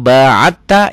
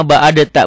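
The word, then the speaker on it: بَاعَدْتَ: wa Baina khotaya Kama ba'atta ini tuh ini kalau enggak enggak belajar tajwid bacanya Kama baadta bukan ini diidqamkan ke sini Kama baatta bainal masyriqi Wal maghrib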